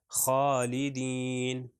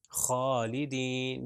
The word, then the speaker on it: خالدین: اب دیکھیں خالدین خالدین، یعنی وہ گلے کے سب سے اوپر والے حصے سے آواز آ رہی ہے. خا اور غین کا تقریباً وہ ایک ہی جگہ سے تلفظ ہوتا ہے.